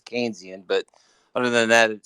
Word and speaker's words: Keynesian: John mayard kees and his philosophy is kenian it's Keynesian but other than that